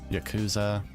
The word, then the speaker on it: Yakuza: Let's see, there's that, there's Yakuza, or Yakuza, that's how it's actually pronounced.